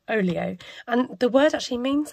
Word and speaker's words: Olio: So there is an app called Olio, or I think they actually pronounce it Olio, and the word actually means something.